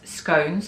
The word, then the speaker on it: scone: tea alongside cucumber sandwiches as scones or scon depending on where you're from or how you pronounce it so I made some